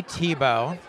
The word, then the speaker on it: Thiebaud: I am with Kelly Thiebaud.